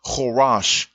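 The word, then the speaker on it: Koresh: the nickname cyrus mean it is pronounced qurash in khabarath and qurash combines the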